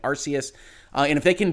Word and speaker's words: Arceus: i will tell you i've absolutely loved arceus which i'm told is the product correct pronunciation even though i've been calling it arceus uh and if they